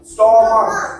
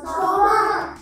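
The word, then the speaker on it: stomach: স্টমাক ইটস নট স্টমাক খ এর উচ্চারণ আসে না লাস্টে ক এর উচ্চারণ আসবে ক স্টমাক স্টমাক কি বলবো স্টমাক আবার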